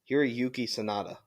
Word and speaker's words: Hiroyuki Sanada: But how do I pronounce his first name? Hiroyuki Sanada.